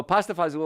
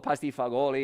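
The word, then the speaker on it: pasta fagioli: So pasta fazool or pasti fagioli, if you want to pronounce it like it's spelled, that's a great way to do it.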